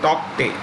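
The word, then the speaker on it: Tauktae: The K is silent. Tokte.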